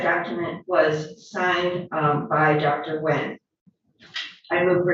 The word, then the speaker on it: Nguyen: It indicates that the assistant medical examiner was Teresa Wen, which is spelled Nguyen, MD, and she found